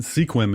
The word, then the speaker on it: Sequim: up that would be Sequim Washington sequen if you're playing at home and don't know how to pronounce it and invited my grandpa